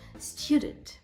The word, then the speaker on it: student: Наприклад, слово student. Student у нас іде наголос на перший склад. Stew. Те, що наголошене, ми так вимоваємо. Sw, тобто ви чітко чуєте звук. Але другий склад у нас є ненаголошеним. І я не кажу, я кажу нейтральний звук ша. Звук. Е, student. Я не кажу, я кажу.